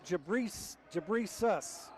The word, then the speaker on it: Jabrejas: Actually, it's Jabrejas. I asked him the other day, and he said we've been pronouncing it wrong.